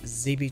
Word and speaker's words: Zeebe: from here 0 22 or should I say ZB 22 the O is silent apparently zb-26 okay now Blake